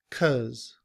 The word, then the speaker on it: because: However, in reduced form, we don't say because. It's reduced to cuz. Cuz cuz I'm yawning cuz I'm tired. Repeat after me. I'm yawning cuz I'm tired. I'm yawning because I'm tired.